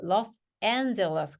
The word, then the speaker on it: Los Angeles: 자, 그 다음에 두 단어로 이루어진 건 뒤에 강세가 있거든요. 그래서 얘는 Los Angeles, Los Angeles 아니고 Los Angeles.